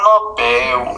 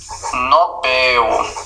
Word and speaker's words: Nobel: Por exemplo, o nome do prêmio não é Nobel, aliás, não é Nobel, prêmio Nobel, é Nobel, é oxítona.